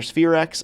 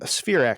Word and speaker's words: SPHEREx: First, let's talk about SphereX, which is launching soon. First of all, am I saying that acronym correctly? Yes, SphereX is the way we pronounce that acronym.